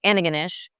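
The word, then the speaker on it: Antigonish: we pronounce it ananish.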